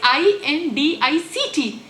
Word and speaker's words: indict: your profession you know the spelling is i n d i c t and many people say it as indict or debris pronounces debris